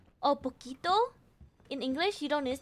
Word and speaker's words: poquito: In this case, it is not posito, it's poquito.